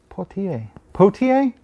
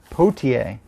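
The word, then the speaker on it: Poitier: i you would think i'd learn how to pronounce his name by now poetier poetier that's how you say it uh this was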